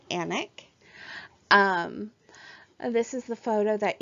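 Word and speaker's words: Alnwick: this is Anna castle I know it looks like ant on the wick but it's actually pronounced anak this is the photo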